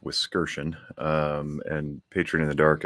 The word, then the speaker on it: Wiskerchen: For anybody who's curious, the last name is pronounced Wiskerchen.